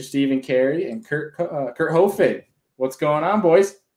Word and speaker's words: Hoefig: coming on for friday i said co-fig not hoefig for your last name well that's what it